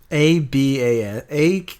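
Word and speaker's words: à bas: say down with things a b a space Bas ABA it just be ABA there's no you I do know that you don't pronounce the the last that last uh consonant so yeah I agree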